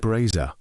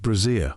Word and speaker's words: brazier: We like to see It's pronounced braza, not brazier.